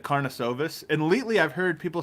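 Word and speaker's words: Karnišovas: It's Karnisovas. Okay. That's I want to say it right. So Karnisovas. Okay. Yeah, I've been saying it wrong for 7 years. Like an SH. Like an SH. We said there's like a tongue roll in there.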